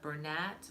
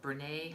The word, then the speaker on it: Bernat: The one yarn that I would say avoid is the Bernat or Bernay, however you want to pronounce it.